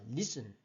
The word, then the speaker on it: listen: 1음절어고 앞쪽에 강세를 들어와서 listen 이렇게 읽어요.